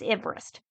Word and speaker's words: Everest: name was actually spelled like Everest he just pronounced it as Everest and yes I did have to write the